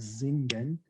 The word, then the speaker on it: singen: And that's why if you listen to me pronounce the word singen, I pronounce the S as a Z.